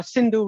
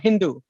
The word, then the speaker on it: Sindhu: had they couldn't pronounce the persians can't pronounce s so they don't say they say hindu they couldn't pronounce sindhu river so they call it hindu so it became hindu